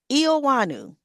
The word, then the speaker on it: Eoannou: last name, but um thank you for giving me some hints as to say it correctly and is Wanu.